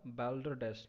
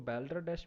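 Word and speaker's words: balderdash: ठीक है, next word जो है हमारा बैल्डर डैश। ठीक है, इसको बैल्डर डैश भी नहीं पढ़ेंगे, इसको बॉल्डर डैश पढ़ेंगे। इसकी राइट जो प्रोनाउंसिएशन है वो बॉल्डर डैश है, जिसका इंग्लिश मीनिंग होता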